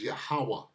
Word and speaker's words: Yahweh: That name is Yahweh. Yahweh Bahashim Yahweh Shai. Is no other name. This is how you say it.